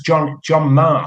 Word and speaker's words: Maher: But that was John Marr, spelled Maher, and Johnny Marr out of the Smiths. His name is spelt the same way, Mm. Maher. But so people in the early days didn't get him confused with John Marr out of Buzzcocks. He changed it to a phonetic spelling, Marr, because a